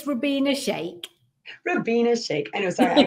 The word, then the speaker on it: Rubyna Sheikh: your last name wrong so i'll let you pronounce it correctly for me it's for being a shake ravina shake i know sorry i call it we'll go